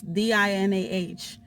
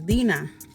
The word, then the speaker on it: Dinah: it's spelled like this di na H which for me is Deena which is in Spanish I don't like to be called Dinah because that's not the way that my parents pronounce my name yes you can pronounce